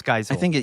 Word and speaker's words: Geisel: made this one, and Audrey, and I might mispronounce her name, Geisel, thank you. I think it's Geisel.